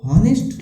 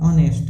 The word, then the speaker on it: honest: अब आपको दिख रहा होगा अन ऑनेस्ट, HONEST, इसको हॉनेस्ट लोग बोलते हैं बट ये होता ऑनेस्ट है, इसको प्रोनाउंसिएशन में ऑनेस्ट नाम ऑनेस्ट बोलते हैं।